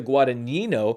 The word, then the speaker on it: Guadagnino: I said it wrong. I keep saying it Guadagnino, and it's Luca Guadagnino.